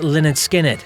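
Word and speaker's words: Lynyrd Skynyrd: Pronounced Leonard Skinnard, second helping, Street Survivors all went double platinum.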